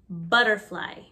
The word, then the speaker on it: butterfly: Remember that the double T often makes a D sound. So we don't say butterfly, we say butterfly, butterfly. Ladybug, ladybug.